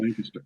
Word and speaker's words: Lancaster: I do appreciate, as a Pennsylvanian, how you are pronouncing Lancaster correctly. Lancaster.